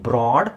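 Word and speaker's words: broad: ಓ ಅಂತ ಉಚ್ಚಾರಣೆ ಬರುತ್ತೆ ಇಲ್ಲಿ ಬ್ರಾಡ್ ಅಂದ್ರೆ ಅ ಸೌಂಡ್ ಬರುತ್ತೆ ಇಲ್ಲಿ ಅಬ್ರಾಡ್ ಇಲ್ಲಿ ಕಬಡ್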